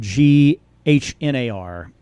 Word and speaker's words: Shylmagognar: The band is Shilmagognar. I love that name because it looks hard to say, but if you read it, it looks really easy to say. Yeah, it's Shilmagognar.